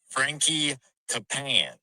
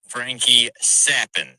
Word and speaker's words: Frankie Capan: lineup it's G to look like it is Frankie capan but it's actually pronounced Frankie sappin and that man is going to carry you